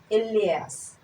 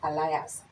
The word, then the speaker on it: alias: seems to have an alias mind you it's not pronounced Elias it's Alias that's the right pronunciation we learn one or